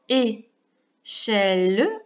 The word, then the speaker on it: échelle: On a donc échelle avec le E à la fin qu'on entend très peu, le E muet.